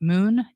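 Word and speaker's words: Muun: look at them I don't know how you pronounce it Moon m-u-u-n wallet for online and then Tresor wallet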